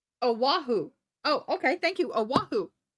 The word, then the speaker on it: Oahu: Oh no, Honey was born on Oahu. Oh, how do you say that? Oahu? Oahu? Oahu.